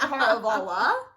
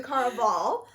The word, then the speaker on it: Caraval: I was almost at Caravala. And I was like, that's not it. It's the Caraval.